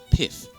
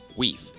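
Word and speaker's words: wīf: Again, you may probably think this is pronounced as pith, but the correct pronunciation of this word is weef, which modern English is wife.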